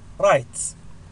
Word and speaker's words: write: من أشهر هذه الكلمات write write write بمعنى يكتب أو أكتب write. إذا كان عندي الكلمة تبدأ بالW ثم يأتي خلفها R عادة لا نلفظ الW write يكتب.